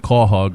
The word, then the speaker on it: Quahog: If you're not from Rhode Island, you may not know that Cawhug is spelled Quahog.